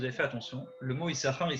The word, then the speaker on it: Issachar: salaire, Dieu m'a donné un cadeau, mon enfant Issachar.